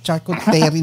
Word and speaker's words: charcuterie: Pag the spelling makikita nyo, charcuterie, bak charcuterie ng charcuterie si Park, charcuterie naman.